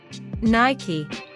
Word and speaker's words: Nike: Adidas shoes when he is on football ground Nike Nike there was a huge discount on Nike